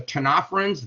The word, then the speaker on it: ctenophorans: But the cnidarians and the ctenophorans, the C is silent in those words, those are jellyfish and comb jellies, only have the ectoderm and the esoderm.